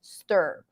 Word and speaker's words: stir: get used to it, at the word and see that it's spelled with an I. So technically your brain takes you towards the E sound, right? Steer. But no, steer the wheel, steering wheel, is spelled with two E's and has the high E sound. This is a different vowel sound. This is the as in stir.